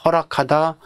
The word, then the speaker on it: 허락하다: 이렇게 발음하니까 그대로 쓰는데 자 허낙하다 수낙하다 이건 좀 발음이 이상하다는 거죠. 그래서 이걸 허락하다, 수락하다 이런 식으로 화음조 현장 때문에 니언을 리얼로 바꿔서 발음하죠. 그러면 허락하다, 수락하다 발음이 자연스러워지죠.